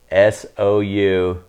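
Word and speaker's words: Sousão: Sauza? I would call it So. so. I would call it so, but it's Souzau with a tilde on top of that.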